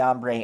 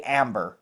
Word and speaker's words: Ombre: I don't know if they'll ever deal with that or not, but so we say amber even though it's really ombre, but we say I